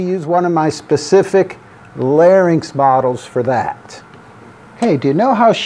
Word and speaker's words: larynx: model right here and remember we say larynx it shows me the